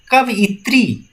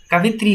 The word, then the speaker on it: कवयित्री: कवयित्री, ये अक्सर पूछा जाता है। कवयित्री सही शब्द लिखा जाए तो अगर हम इसकी उच्चारण करते हैं कवयत्री होगा, कवयत्री, आप जरूर इस पर ध्यान दीजिएगा।